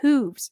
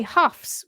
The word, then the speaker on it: hooves: her head off because I would say hooves. So she thought that was really funny. Hoove. But that's because it's spelled hooves, like grooves. But you say huffs, which is actually spelled